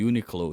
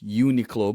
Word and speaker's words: Uniqlo: For me, it's Uniqlo, but there's some people who pronounce it Uniqlo. Like I saw Really? YouTube, yeah, Uniqlo. My brother in the Philippines pronounces it Uniqlo because it's unique clothing.